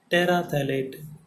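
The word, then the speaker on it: terephthalate: और टी से बनेगा टेराथैलेट क्या बनेगा टेरा पी साइलेंट हेयर थैलेट पैराथैलेट तो पी ई टी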